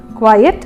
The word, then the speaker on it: quiet: நான் இதை பற்றி சொல்லும் போதே என்னோடய உச்சரிப்பு வித்தியாசம் உங்களுக்கு தெரிஞ்சிருக்கும். குவைட் அப்படின்னும் பொழுது QUIET, குவைட் அப்படின்னும் போது QUITE.